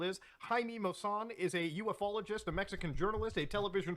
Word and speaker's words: ufologist: That's two people now who claim to be interested in the extraterrestrial phenomena, who say UFOologists as opposed to having the esoteric knowledge of the proper pronunciation of ufologist.